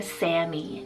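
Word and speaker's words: Sami: little bit more popular i have the name sammy spelled s-a-m-i sammy this one's an arabic diminutive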